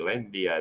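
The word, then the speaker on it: Lynda: n d a yeah best way to remember it is like India like the country just slapping l in front of it lindia how you say it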